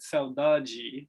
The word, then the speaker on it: saudade: And although the Brazilians pronounce it saudade, right?